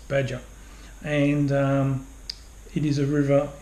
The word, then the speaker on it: Badja: pronouncing it wrong but pretty sure it's pronounced badger and it is a